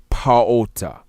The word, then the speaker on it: Ptah: To me, what I see through linguistic study and through cosmological study and whatnot of our people, the proper pronunciation of what you say Ptah, it would be Paota.